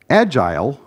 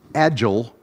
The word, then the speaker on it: agile: the kindest possible way agile using the british and canadian and typical pronunciation here i'm using to refer to the methodologies agile the american pronunciation i'm using to refer